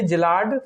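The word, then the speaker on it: Szilard: बनाया था वो थे जिलार्ड फर्मी। एस साइलेंट रहता है, SZILLARD, एस साइलेंट आएगा, जिलार्ड फर्मी से याद रखना।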